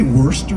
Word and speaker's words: Worcester: Um well I'm from Worcester which is like Boston but much worse. Yeah. Um yeah. Is that how you say it? Worcester. Yeah. Did you say worester?